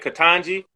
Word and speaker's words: Ketanji: Ketanji?